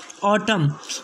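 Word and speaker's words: autumn: इसके बाद का नेक्स्ट रूल है 13वां, जब एम के बाद एन आ जाए तो एन को नहीं पढ़ा जाएगा। जैसे कि फर्स्ट वर्ड है इसके अंदर ऑटम, फिर उसके बाद में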